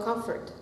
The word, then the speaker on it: comfort: For me, there is no comfort. It's a little open on your cup sound. Comfort.